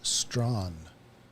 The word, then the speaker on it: Strachan: So I've heard Strachan, and during the World Women's, Strawn. What is the proper pronunciation? Is that one of those things, potato, schedule kind of thing? Yeah. Short answer is yes.